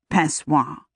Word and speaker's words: Pessoa: He pronounced it, Pessoa.